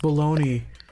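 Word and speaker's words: bologna: English is dumb it's it's spelled it's pronounced baloney but it's about balagna I think I think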